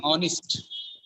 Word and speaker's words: honest: here the first H is Silent People Say honest sometimes okay sometimes people say honest actually honest he is an honest person honest honest honest silent honest marriage marriage function I